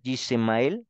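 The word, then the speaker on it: ישמעאל: su hijo Ismael eh Ismael se escribe así en hebreo y se le pues al leerlo sería jemel sí y significa Dios oirá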